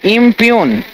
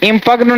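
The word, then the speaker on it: impugn: Peon का मतलब होता है ना, जो प्यून एक पोस्ट है, तो इम्प्यून बोलेंगे, और सही उच्चारण बोलिएगा, इम्प्यून, इम्पग्न ना बोलना है, इम्प्यून।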